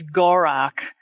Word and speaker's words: Gorok: indiana jones method across i found the original pronunciation and it's gorok so none of us were saying it right but anyway now the new one is gal rock because yeah gal rock yeah they changed it they did change it